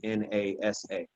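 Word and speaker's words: נשא: pronounce it and the way that you would spell it is nasa which is nasa how we would say it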